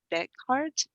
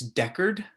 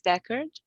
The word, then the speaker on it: Deckard: yeah i i think i think it's deckard i don't know if there's a d at the end deckard backwards record yeah i think that's it i'll look up his